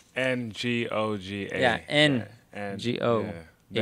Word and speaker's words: Ngoga: He has an N, so it's not G-O. Wait, is it? The N is silent. So spell your name, last name. Ngoga.